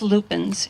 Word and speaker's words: lupin: And by the way, there were always lupins in my family, so that's the pronunciation I've used. I think lupine is also correct.